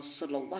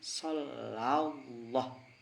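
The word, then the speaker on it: صلى الله: mengucapkan sallah sallah kalau sallah itu tafhimnya dua dalam lafaz Sala dalam dalam lafaz Allah padahal yang betul itu bukan sallah tapi shallallah Sha Allah shallallah itu yang betul itu mungkin di antara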